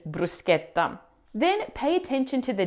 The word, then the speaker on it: bruschetta: As we've already seen in Italian, the ch combination always marks a hard c, never a shh like in English. So we say sket, not shet in brusqueta.